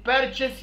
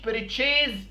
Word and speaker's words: purchase: purchase يعني يشتري كلمة purchase يعني يشتري وعلى فكرة هي بتتنطق purchase مش بريتشيز زي بعض الناس ما بتقول ها نطقها بريتشيز حرف الاس بيتنطق اس وحرف الاي ما بنطولش فيه يا جماعة كلمة بريتشيز